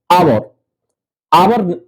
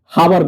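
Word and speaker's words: hour: दूसरा आवर आवर होता है। हावर नहीं होता है। एच साइलेंट हो जाता है।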